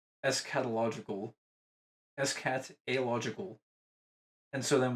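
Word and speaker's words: eschatological: So it's escatological.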